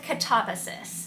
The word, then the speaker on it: Katabasis: The pronunciation of the title has been a bit of a subject of contention. I'm going with Katabasis.